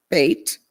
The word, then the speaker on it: bet: one is called a bat safar b-e-t but pronounced bait that s-e-f-e-r pronounced sefer now this also this